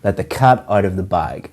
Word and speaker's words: let the cat out of the bag: and a nice surprise the pronunciation of this is to stress or emphasize cut and bag let the cat out of the bag like the cut out of the bike common mistake that we